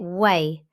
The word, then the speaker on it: weigh: We pronounce it way, but it's spelt Weigh. This is just one of those unusual English spellings.